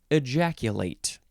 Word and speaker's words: ejaculate: And the pronunciation is important because this is a verb. Ejaculate, you put that 8 sound on there because it's a verb.